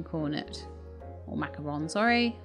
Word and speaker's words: macaron: before i started is where it's actually still pronounced macaroon even though it's like written macaron ah okay arctic fox we